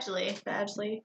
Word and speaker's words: Badgley: Tell me how to pronounce that. Badgley.